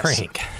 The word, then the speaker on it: Phranc: jewish lesbian folk singer ah yes frank of course spelled with a ph and a c at the end yeah and let's just